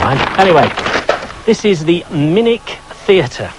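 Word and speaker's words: Minack: here farewell never mind anyway this is the minik theater it's spelt minak but it's pronounced minik and it's brilliant open air theater right on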